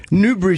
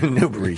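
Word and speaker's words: Newbury: on new newb so she he was on Newber Street was he recording them in walking or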